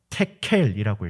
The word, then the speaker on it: 데겔: 성경 말씀에서는 데겔이라고 적혀 있지만 테켈이라고 읽어요.